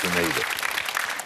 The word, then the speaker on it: Grenada: It's normally pronounced Grenada.